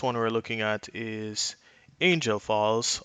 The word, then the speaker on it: Angel Falls: we're looking at is Angel Falls or it probably is pronounced angle Falls in Venezuela at 979